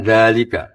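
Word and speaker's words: ذلك: Tapi baca dalnya panjang enggak? Panjang bacanya kan dalika.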